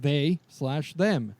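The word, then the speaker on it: They/Them: horror series called uh they slash them starring Kevin Bacon which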